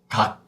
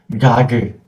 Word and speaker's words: 각: I will pronounce the first syllable as 각. One more time. 각. 각. That's it. It is not 가그 or 가크. It is not 가그 or 가크. It is 각.